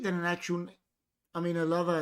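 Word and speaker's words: Ελλάδα: I mean, Elava is how you would pronounce it in Greek.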